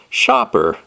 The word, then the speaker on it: Shaper: the box is the Shopper logo with Cy of course and it's very helpful and it tells you how you actually pronounce the name of the company because it's pronounced Shopper and when we open